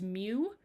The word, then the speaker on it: mu: designated by this symbol right here which is pronounced mu.